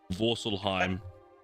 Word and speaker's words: Vorselheim: Vorselheim. Vorselheim. Like Valheim, but just a little bit different, so I don't get copyright.